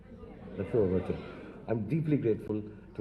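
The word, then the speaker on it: La Trobe: I'm deeply grateful to the university, the LaTrobe, do I pronounce it right? LaTrobe. LaTrobe, okay.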